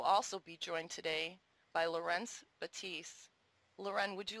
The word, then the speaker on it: Laurens: french pronunciation loren and his is the dutch pronunciation laurens lorenz we would also like